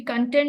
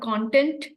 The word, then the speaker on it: content: It should be content, not content, because you are trying to express, because here in that sentence, it means satisfaction. So it wasn't about content, it was content.